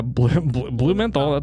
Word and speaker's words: Blumenthal: Yeah, Blumenthal. That's how it's said.